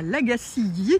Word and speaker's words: La Gacilly: Et voilà, nous sommes arrivés à la Gacilly, donc ça se prononce comme ça, comme je vous disais ce matin.